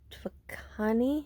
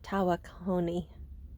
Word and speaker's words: Tawakoni: We've been at Lake Twakani. I think that's how the locals say it. It looks like Tawakoni, but I think it's Twakani.